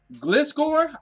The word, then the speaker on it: Gliscor: your baby cow so yes we got the Gliscor that's how you pronounce it pokedex entry right here I'm not